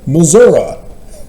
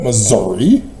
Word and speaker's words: Missouri: call it laety that's why I purposely say Missour because that's how murans pronounce it it's not Missouri what are you doing stop it hilarious so